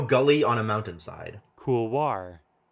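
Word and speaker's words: couloir: on a mountain side cool War why would you do the French oi and then also pronounce the R I hate English all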